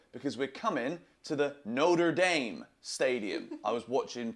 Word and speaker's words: Notre Dame: fly to Chicago because we're coming to the Notre Dame Stadium I was watching pronunciation videos CU you guys were telling me